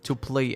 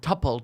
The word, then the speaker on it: tuple: Variadic tuple. Oh, that's it. Label to play elements. I don't know how to pronounce this word.